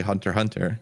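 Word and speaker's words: Hunter × Hunter: then i learned like oh it's actually hunter hunter and then now i also shame people who pronounce the x yeah that's what you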